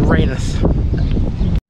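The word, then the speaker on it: Rainworth: i know full well people around here say differently to how i would but i am clued up and i know how they're pronounced that's blidith and raynath this part of the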